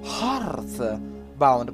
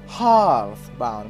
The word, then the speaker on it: Heartbound: Questo qua invece è Hearthbound. Pronuncia se. Dillo, Tommy, dillo. Hearthbound. Pronunciato come dei signori.